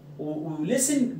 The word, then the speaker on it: listen: listen to ولسن لازم يجي وراها تو بعد كده ايه؟